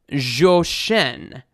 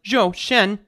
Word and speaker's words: Zhou Shen: requesting this young man joshen i put this into google translate earlier and uh it's uh i guess it's pronounced joe shen or something like that i i'm so bad at